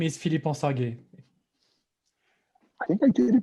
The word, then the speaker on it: Philippe: least hears it one time my name is philippe i think i did a good job then